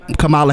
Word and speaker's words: Kamala: that we're waiting for kamala harris's uh approval or joe biden why did you put emphasis on the wrong syllable with her name yeah it's camilla camilla not even that it's kamala oh it's so i thought